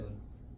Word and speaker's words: 눈: 자, 눈이 있으면 눈. 하늘에서 내리는 눈이에요. 어떻게 발음해야 돼요? 길게 발음해야 돼요. 눈으로 발음을 해야 됩니다.